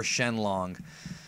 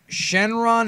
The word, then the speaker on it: Shenlong: it Omega Shenron or shenlong all right I'll go through this quickly Shenron is not the correct way to say it it's not incorrect necessarily but it's not correct correct Omega Shenron is his